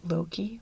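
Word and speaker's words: loci: or method of loki it's l-o-c-i and i've heard it pronounced a few different ways but you know what the guy i saw who pronounced it loki which looks right to me he had a very sort of posh british accent so i i assume he must be right okay major system is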